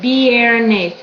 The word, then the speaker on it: viernes: Viernes. So these are pronounced. Even though they're right next to each other, you still pronounce them as their individual sound.